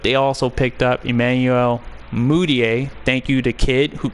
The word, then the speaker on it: Mudiay: on there, but they also picked up Emmanuel Mudiay. Thank you to Kid, who corrected me a while back about the pronunciation of his name, because I was saying it all wrong.